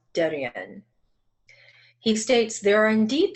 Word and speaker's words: Devin: This is the leader of the Pascats called, it's spelled like Devin, like D-E-V-I-N, but it's pronounced Derian.